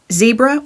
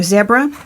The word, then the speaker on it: Zebra: All right, let's do, this is a Zebra or Zebra. People say them differently.